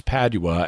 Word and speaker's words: Padua: italy in the interview bill pronounces padua a couple of ways but it's padua as in saint anthony of padua that we're talking about